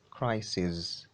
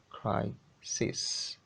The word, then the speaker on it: crisis: crisis they swear to is not crisis crisis it should be pronounced cry cis the plural that is